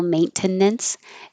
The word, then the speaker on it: maintenance: asylum asylum azure azure maintenance you don't have to have the middle syllable maintenance it gets pushed together maintenance thirst looks like